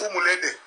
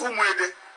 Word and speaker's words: Umwede: Because when we talk about Umwede, corruption make the word to be pronounced Umulede. But the original name is Umwede.